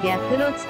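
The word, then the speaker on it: 白鷺池: この池は白鷺池と書いて白露池と呼ばれています。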